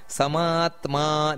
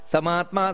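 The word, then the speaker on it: ಸಮಾತ್ಮಾ: ಸತ್ಯ ಹೃ ಅಂತ ಬರಬೇಕು ಸತ್ಯ ನಂತರ ಸಮಾತ್ಮ ದೀರ್ಘ ಇದೆ ಅಲ್ಲಿ ಸಮಾತ್ಮ ಸಮ್ಮಿತ ಸಮಾತ್ಮ ಸಮ್ಮಿತ ಸಮಹ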